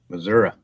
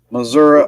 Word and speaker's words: Missouri: would pick all Mary oh Missour Missouri Missour got say it right Missouri agates M oh man